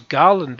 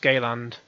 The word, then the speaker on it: Galand: um your character's name I thought I thought his name was Garland at first but yeah don't laugh his his name is galand so g-a-l-a-n-d pronounced Gayland you've got to go